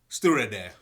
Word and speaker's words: Stiuireadair: Can you pronounce that? Stiuireadair.